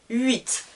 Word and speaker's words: huit: france est très important le h est muet il ne se prononcent pas je ne dis pas 8 non huit comme si il n'existait pas 8 9 10 nous